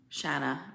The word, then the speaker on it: Shanna: when you chase oh shanna shanna rhymes with banana okay shanna sorry thank